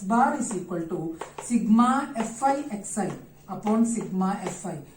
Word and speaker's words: sigma: Sigma, this should be pronounced as sigma, not as summation. इसको summation नहीं पढ़ेंगे, sigma पढ़ेंगे. There are 2 types of sigma.